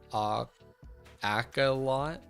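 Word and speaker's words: axolotl: Fun fact, Oxalotl cannot be pronounced correctly in English. The closest we can get is Acolot.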